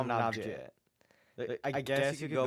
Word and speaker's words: Navjit: It's Navi. Shout out to that guy. I love him. It's Navjit. You can't get me on these pronunciations. I've talked to the. I swear to God, I think it was Matt who told me it was Navi.